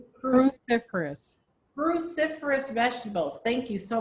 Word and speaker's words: cruciferous: How do you pronounce it again? Cruciferous. Cruciferous.